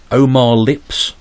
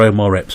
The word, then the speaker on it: Omar Epps: 10 Memphis Bleek Method Man n o re Omar lips I was more lips are omar epps Omar Epps sorry sorry Omar got your name